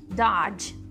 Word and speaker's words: dodge: Dodge. Dodge. Depois a gente só tem o som do G.